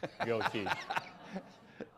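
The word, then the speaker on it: geaux: and uh at LSU it's called go teach spelled a particular cinjun way. Yeah, it's spelled kinjun g e a u x go.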